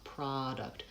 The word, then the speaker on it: product: Product, I have a pure vowel on ah, it's lengthened, and the second syllable is shorter, product.